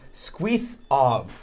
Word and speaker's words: SkwithOv: which was "SkwithOv," says, "my name is actually Cornish, and it's pronounced skweeth awvv."